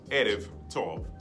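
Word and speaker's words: ערב טוב: If you take the modern pronunciation of good evening in Hebrew, modern Hebrew, it's Erev Tov. That B, that Ba becomes a V sound.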